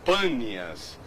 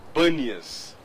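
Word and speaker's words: Panias: afluentes do Rio Jordão o nome bas de fato é panas mas os árabes têm dificuldade de pronunciar a letra P por isso que ficou banias E aí Mas de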